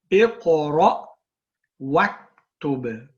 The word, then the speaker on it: اقرأ واكتب: But when you join, remember you do not pronounce this hamza, so we say Iqra waktub, read and write.